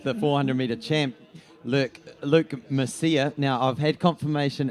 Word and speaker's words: Mercieca: 400-meter champ look Luke Murcia now I've had confirmation it's not Masika it's Luke Murcia so not Luke Luke